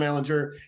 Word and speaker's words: Ehlinger: reports that teams have been interested in Sam Ehlinger and that he's shown a lot in camp and in practice.